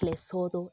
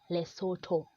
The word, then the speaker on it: Lesotho: and as I've said it's not less although it is less Soto so a person coming